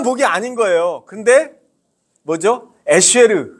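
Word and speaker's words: אשר: 에쉐르. 발음 괜찮죠? 예, 쉐보레 할 때 쉐입니다. 에쉐르. 이건 이제 하나님과의 관계에서 누리는 영적인 복을 말합니다.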